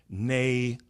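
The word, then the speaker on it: née: vice admiral Tannon bomb nay glass okay and nay is spelled n e e with an accent mark over the first e which is French for born so when someone says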